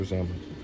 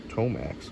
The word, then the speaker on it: Tomax: Is this Tomax or Zamax? Tomax.